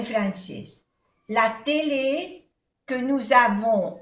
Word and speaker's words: avons: La télé que nous avons, aquí hacemos la unión, avons, la télé que nous avons, no se pronuncia la S, O-N-O, avons, nous avons, à la maison, A-I-E-O-N-O, maison, est bien.